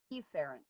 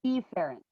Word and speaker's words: efferent: I always say that wrong too. It's efferent. I have to remember that. What's that? I always Oh. say it wrong. It's efferent.